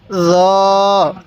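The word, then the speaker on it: ظاء: এরপরে আইন আইন দেখুন এই জ টা কিন্তু নরম করে উচ্চারণ করব অবশ্যই জ টা আপনি নরম করে উচ্চারণ করবেন এই জকে জিমের মত শক্ত করে উচ্চারণ করবেন না তাহলে আমরা জ টাকে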